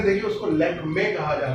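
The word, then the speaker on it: Lakmé: आप लोगों ने अक्सर कॉस्मेटिक्स ब्रांड्स लैक्मे देखा होगा, उसको लैक्मी नहीं कहा जाता, उसको ध्यान से देखिए, उसको लैक्मे कहा जाता है।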